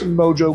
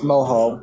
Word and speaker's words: mojo: It's mojo. You're right, it is mojo. In Spanish, the J is pronounced like an H.